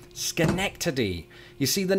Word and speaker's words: Schenectady: on the first syllable i believe my first guess was shenik tadi it was only while chatting with one of my fabulous patrons that i discovered its true delivery schenectady you see the name